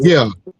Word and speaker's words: Schenectady: Out there, how you pronounce Schenectady. Destiny? Connected. Yeah, Connected. Schenectady.